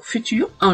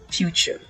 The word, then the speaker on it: future: Le mot futur, en anglais, cela donne future. Pour ce mot, je peux vous donner une astuce. Imaginez que vous avez le pronom you précédé de la lettre F pour la première syllabe. Donc cela donne few et la fin ch, c'est-à-dire le ch plus e. Le tout donne future.